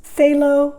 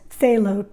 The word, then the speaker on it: phthalo: ocean or water ultramarine blue and this is phthalo green complicated word but basically we all refer to it in the arts as phthalo t-h-a-l-o phthalo green then there's the ivory black